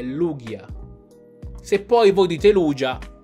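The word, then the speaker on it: Lugia: in tantissime sezioni commenti non è lucia mettiamo fine a questa guerra è lughia se poi voi dite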